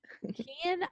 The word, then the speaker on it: Kian: It's like Ian with a K. Yes. Ian. Kian, thank you.